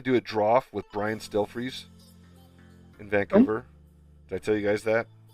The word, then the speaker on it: Stelfreeze: Anyway, but that's how I pronounce it. STEL freeze, as in like freeze.